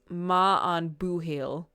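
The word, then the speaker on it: maith an buachaill: Pronunciation is ma an boohil.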